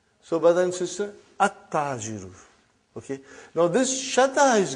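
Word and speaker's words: التاجر: Okay, you did not pronounce. You skipped it. Okay. At-tajiru. You see, your tongue has to touch, the upper part of your mouth inside. So, brother and sister, at-tajiru.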